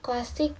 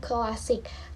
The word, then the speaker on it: klasik: Contohnya klasik bukan klasik, klaster bukan kelaster.